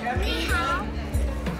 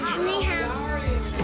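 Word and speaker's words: 你好: Ni hao. What is it? Ni hao.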